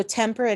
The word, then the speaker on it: temperate: So temperate is actually 3 syllables. So more and tem go together and perit go together.